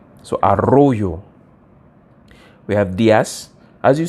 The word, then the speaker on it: Arroyo: of listen very closely to know if it's arrojo or Arroyo sorry I just when I see the LL I pronounce it as a g that's but it's usually pronounced like a like a y Arroyo so Arroyo we have Diaz as you see um Diaz